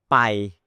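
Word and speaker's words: ไป: The word Pai, the word Pai means to go, Pai, short, like 1 second, Pai.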